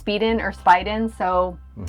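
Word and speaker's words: Spieden: Spiden. Spying animals.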